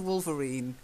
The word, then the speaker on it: wolverine: Very, yeah, you see again, I'd call that a wolverine. They're not wolves, they're more like weasels, as it says. I tend to say wolverine. And if you've watched X-Men, like Wolverine in X-Men.